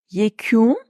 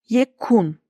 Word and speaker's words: yekûn: Lütfen K'nin yumuşamasına, U'nun yumuşamasına, U'nun birazcık uzamasına dikkat edin. Yekûn, yekun.